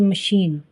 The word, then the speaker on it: machine: याद करना पड़ता है, जैसे GIVE give, LIVE live, MACHINE मशीन। सब साइलेंट ई से ख़त्म हो रहे हैं, लेकिन इनकी साउंड ई है।